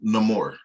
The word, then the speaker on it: Namor: Namor, because listen, all you motherfuckers who keep calling him Namor. Namor. He is a pre-established character. I don't give a fuck how dude pronounced the name on the movie.